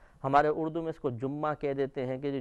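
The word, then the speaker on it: جمعة: تجدید کے پڑھتے ہیں، لیکن عربی تلفظ کے اعتبار سے جیم اور میم دونوں پر پیش ہے جمعہ، جمعہ کا دن۔ اگر یہ مشکل محسوس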